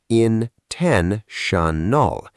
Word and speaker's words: intentional: And the adjective, in-TEN-tional. Intentional. 4 syllables.